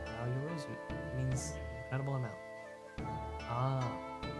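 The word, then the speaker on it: 八百万: It's written as 8 million and pronounced Yao yorozu.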